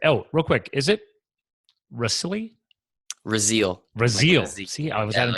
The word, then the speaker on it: Rasile: Italian is actually Rasile, but we Americanized it.